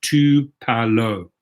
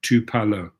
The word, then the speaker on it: Tupelo: So Mark Rowden says it is pronounced Tupelo. There we go, Tupelo.